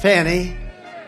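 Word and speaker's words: Fani: f a n i which is usually pronounced Fanny she added a little action to it fawn that was a scam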